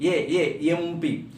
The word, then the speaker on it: MP: Though letter is consonant, sound is vowel, so it should be with the an MLA, an MP.